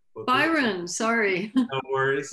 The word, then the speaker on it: Byron: and we'll go to brian next yes it's actually pronounced byron byron sorry no worries like lord byron a very noble name i'm named after uh